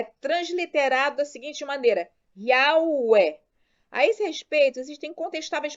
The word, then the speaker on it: Yahweh: Ora, unindo-se 3 passos acima, chegamos à seguinte pronúncia. Yahweh. Yahweh, dependendo do sotaque.